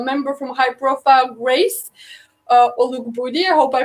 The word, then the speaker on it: Olugbodi: tonight I have a very, very special guest, our member from High Profile, Grace Olugbodi. I hope I pronounced that right.